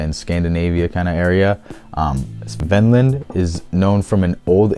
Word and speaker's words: Kvenland: Along that land northwards, Kvenland, or Kvenland is, I guess, how they say it. It's spelled with a K, but they're pronouncing it with a C.